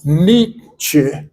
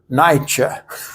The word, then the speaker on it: Nietzsche: Like the theologian Niebuhr, you pronounce it not Niebuhr, you pronounce it Niebuhr. And so Nietzsche, not Nietzsche.